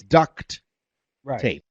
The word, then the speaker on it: duct tape: just for everyone's clarification the way you spell it is D you see T it's duct tape right no but I'm saying people think it's duct like quack-quack duck oh no no no